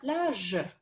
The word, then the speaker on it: plage: Например, sur la plage, когда будете произносить, обратите внимание на то, что у вас округлены губы, и вы четко произносите ж, а не ш.